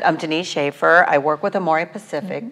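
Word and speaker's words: Denice Schafer: and share their wonderful stories today i invited dennis shaffer a sales education executive of amore pacific how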